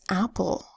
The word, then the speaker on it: apple: First one is apple. You spell apple A-P-P-L-E. First syllable ap, second syllable ul.